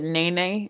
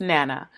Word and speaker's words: Naina: like none I'm alone some pronounce it Nene naina or I forget how the other people it's just naina it's not I'm alone and